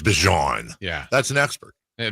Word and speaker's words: Bijan: He said it's not Bijan. Yeah. It's Bijan.